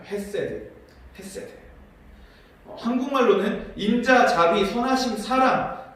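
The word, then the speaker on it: חסד: 여기서 주의 인자하심이다 할 때 그 인자하심을 히브리 원어로는 헤세드라고 읽습니다. 헤세드.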